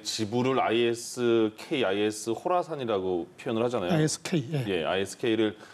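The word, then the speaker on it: Khorasan: 것 같습니다 예 is 의 지분을 risk is 호라 산 이라고 표현을 하잖아요 ski 스케일을 근데 발음을 아이스 콜하스 아니라구요 보통 호라 산업 오구요 이렇게 kh 를 쓰는 영어를 우리말로 코라 선 데도 코라 선도 되는데 그 코라 사이라는 게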